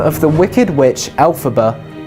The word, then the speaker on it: Elphaba: The name of the Wicked Witch, Elphaba, was created by taking the phonetic pronunciation of the original Wizard of Oz author, L. Frank Baum's initials, LFB, which became Elphaba.